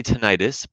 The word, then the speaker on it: tinnitus: trained by Pioneers in tenus treatment and some people do say tenius both pronunciations are okay um I was trained